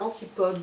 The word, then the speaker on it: Antipodes: Donc la marque Antipode ou Antipodes selon comment on veut prononcer.